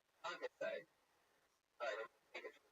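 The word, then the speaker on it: concassé: Concasse.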